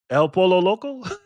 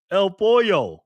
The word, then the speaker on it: El Pollo Loco: I can't speak Spanish, man. El Pollo. Okay. El Pollo. Pollo. Got it. Damn, that looks good. Pollo. Well, it's spelled Polo. Spelled El Polo.